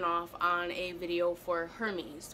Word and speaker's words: Hermes: So for several weeks, I have been working on and off on a video for Hermes, which I think the pronunciation, like the Greek pronunciation, might be Hermes, which I love.